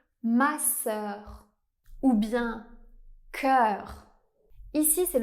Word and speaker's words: masseur: Mais en français, il existe aussi le son /œ/ ouvert, comme dans le mot masseur.